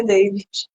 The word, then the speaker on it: David: você perfeito eh David pessoas cham de David porque é assim que se escreve né mas meu nome é Davi é Davi porque eu sou uruguaio né então fica David termina com D né mas David David